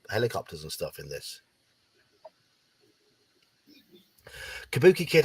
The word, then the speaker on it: Kabuki Kid: Kabuki Kid, I hope you only giggle at it when it's pronounced correctly with an A sound instead of an O sound.